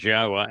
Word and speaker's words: Yahweh: And of course, within Christian communities, the very fact that Yahweh's name is Yahwa and they don't mention it means that Yahweh has nothing to do with their New Testament or their religion.